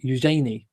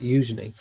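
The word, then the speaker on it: Eugenie: Um I I think it's Eujenei, but I I always go to say Eenei, but it's Eujenei. It's pronounced Eujenei.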